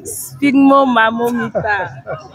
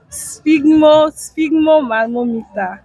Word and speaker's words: sphygmomanometer: Sphygmomanometer. Sphygmomanometer. All right. So spell it.